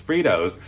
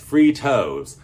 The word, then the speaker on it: Fritos: Fritos is a morph of 2 words, fried and tortillas, Fritos, fry-to. So I think that tells us we've been mispronouncing Fritos all of these years. Fritos should be pronounced Fritos. Just saying.